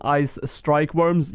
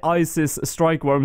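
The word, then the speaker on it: Ice strykewyrms: hard clue scroll from Ice strike Worms yes I pronounced that correctly if you guys remember back in my old videos I used to say Isis strike worm so at least you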